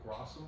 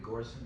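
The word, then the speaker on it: Göransson: Is it Grossum? Ludwig Grossum? Oh yeah, Ludwig Gorson.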